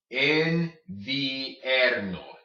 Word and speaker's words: invierno: Invierno, invierno, invierno. Okay, you pronounce both vowels there. Invierno.